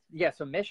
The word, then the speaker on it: Mich: So Mich has a podcast. You can actually find it. So it's her name's Mich. Think of like Michelle. That's how you spell it. MICH. And it's Mishmash. MICH mash.life.